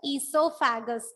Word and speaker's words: oesophagus: letter is O, but it is silent. So it is pronounced as esophagus.